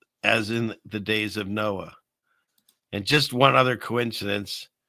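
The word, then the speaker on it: NOAA: Pronounced what? Noah.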